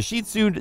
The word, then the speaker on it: Shih Tzu: Dog number 8: The Shih Tzu (pronounced "sheed-zoo" or "sheet-su") This is a small dog but one that's big on affection.